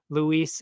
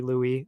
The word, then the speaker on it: Louis: of Charles Jewel day Luis I I pretty sure I'm pretty sure in French it's actually Louis I mean I I